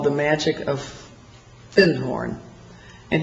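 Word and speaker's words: Findhorn: called the magic of fin horn and he corrected my pronunciation he said you mean fin horn he said our fin horn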